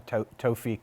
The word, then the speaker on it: Tewfiq: YAZBEK: Tewfiq. MOSES: Yeah, I think the Arab pronunciation is more Tewfiq, but then the Israelis say "Tu-feek."